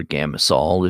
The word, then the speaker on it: Gamsol: So Oksana is asking what brand of OMS I prefer to use, and I like Gamsol by Gamblin is the one that I like, or Gamasol if you prefer that pronunciation.